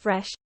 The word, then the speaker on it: FRE2SH: FRE2SH, pronounced fresh, was born as a community for developing our integral food and nature awareness, engagement and societal transition.